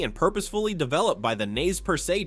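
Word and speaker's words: Nez Perce: It was carefully and purposefully developed by the Naz Persail tribe pronounced Nespers.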